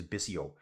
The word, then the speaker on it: Bissot: I think you say it as Bisio.